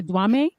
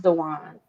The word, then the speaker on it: Dewan: do you say Dwame? Is that your last name? No, it's pronounced Dewan. Dewan.